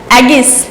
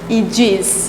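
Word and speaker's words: aegis: Please pronounce this word एगिस, क्या बोलेंगे, एगिस। एगिस नहीं, क्या बोला जाता है, ईजिस।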